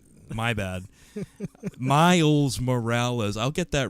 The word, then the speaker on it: Miles Morales: like ms marvel Nova and Milo Miles Morales Milo Morales yeah yeah yusei's name wrong you're gonna make me do it uh